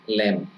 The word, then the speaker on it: lamb: lamb আহিব lamb lamb b is not pronounced lamb so l ahi gol